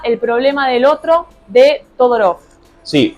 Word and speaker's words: Todorov: problema del otro de todorov sí o tudor un búlgaro que se nacionalizó francés Así que quizás la la pronunciación que usemos no sea la correcta pero buenoos todorov es la más difundida acá por estos pagos